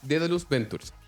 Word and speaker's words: Daedalus Ventures: fondo de Venture Capital que todo el mundo pronuncia mal, pero se llama Daedalus Ventures.